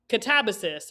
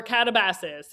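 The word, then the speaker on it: Katabasis: I don't DNF a lot of books, guys, but Catabasis or Catabasis, however you want to pronounce it, by R.F.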